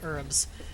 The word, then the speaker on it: herbs: pronounce the h in herbs uh yeah it's uh whether or not you pronounce the h seems to be a um seems to depend on your accent and where you come from um not entirely sure